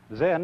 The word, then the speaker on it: Zen: Zen, of course, is a Japanese word, and it's spelled Z-E-N. And that is the Japanese way of pronouncing the Chinese word Chan. And this, in turn, is the Chinese way of pronouncing an Indian Sanskrit word, dhyana.